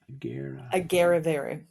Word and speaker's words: Agerrevere: Agerrevere.